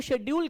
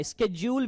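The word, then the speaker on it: schedule: होने वाले हैं जिसको शेड्यूल कर दिया गया, स्केड्यूल भी बोलते हैं इसको, शेड्यूल ही नहीं बोलते, स्केड्यूल भी बोलते हैं, ये भी एक प्रोनाउंसिएशन है जो कि बेहतर प्रोनाउंसिएशन।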